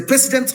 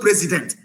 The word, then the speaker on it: precedent: It is a precedent law. Precedent, not president.